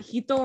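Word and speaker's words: 一: But a lot of time, like from hitotsu, that hito right here, that so ichi can also be pronounced as hito, depending on the context.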